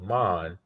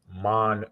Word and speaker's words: Ahman: actually as a five-year-old he pronounced my name instead of Amman he he put it into two words mon Queen instead of Armand mon so first name